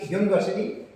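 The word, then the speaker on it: university: ऐसे UNI यूनिवर्सिटी, तो ये यू है तो वावल, लेकिन उच्चारण इस वर्ड का कैसे है यू, य, यूनिवर्सिटी, तो ए यूनिवर्सिटी।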